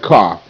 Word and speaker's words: cough: But in this case, the OU sound is irregular. It's making the short O sound, ah, ah, ah.